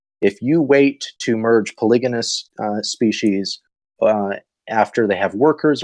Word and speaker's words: polygamous: species by the way the pronunciation is polygon polygamous not poly Jain just so everybody knows that should you merge